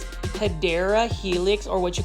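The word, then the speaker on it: Hedera helix: This is a Yra helix or the correct way to say it is Hideera Helix or what you call the English ivy.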